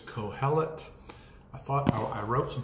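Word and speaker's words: Qoheleth: and some others is a word called or pronounced cohelet if you have a good translation you may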